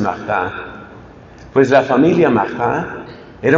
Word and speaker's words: Martin: El apellido de los papás se escribe Martín, pero pues en francés lo pronuncian Martin.